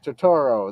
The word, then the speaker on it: Turturro: Turturro.